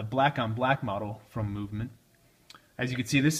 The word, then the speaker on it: MVMT: The company's name is MVMT, pronounced as movement.